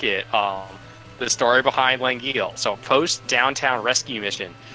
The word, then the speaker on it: L'Anguille: But it would be pronounced something along the lines of, like, Langille, which Downtown doesn't even know other languages exist, so he hears that as Langille.